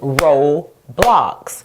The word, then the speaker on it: Roblox: Roblox is made from two syllables, Ro-blocks. And so, if I were to separate the word by syllables, I would divide it here. And so, what do you notice about the first syllable, Ro? It ends in the vowel O and the vowel is saying its name.